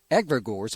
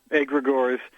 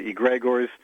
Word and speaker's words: Egregores: about your new book aggregators am i pronouncing that correctly nobody gets it right so don't worry about it it's greek we say a gregoires although some say egregors uh and then i